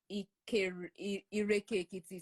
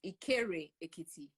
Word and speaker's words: Ikere Ekiti: Apparently, I mispronounced it, and I said Ireke Ekiti. So it's not Ireke Ekiti. It's Ikere Ekiti.